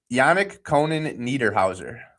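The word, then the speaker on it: Yanic Konan Niederhäuser: And pronounce his name once again. Yanik Yanick Conan Neerhouser.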